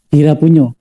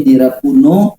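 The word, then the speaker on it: Dhirapuñño: Nah ya, Dira Punyo. Kemarin saya sempat mikir. Ini Dira Puno, Dira Puno. Dira Punyo. Jadi di situ ada Dira PUN double N kemudian ada garis di atas itu bacanya NY. Punyo.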